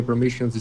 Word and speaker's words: permissions: Whereas I would connect these s's together. Permission step. Permission step.